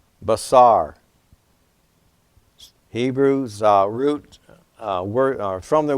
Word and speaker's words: basar: So if we were to look in Strong's, reference number 1319 in the Hebrew, we see this word here pronounced basar, spelled B-A-S-A-R in English, meaning to bring news, announce, or proclaim good tidings.